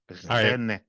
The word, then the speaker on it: René: René is like Jorge in Spanish. You say René.